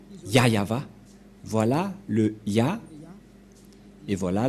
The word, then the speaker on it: Yahvah: Et donc c'est bien la vraie prononciation de son nom, Yayava.